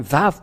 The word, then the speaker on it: Vav: Et nous avons vu la lettre araméen que le lettre Vav se prononce bien Vav ou V. Et c'est bien clair d'après cette idée que la Sainte Écriture prouve bien que l'araméen a prononcé le Vav en VAV.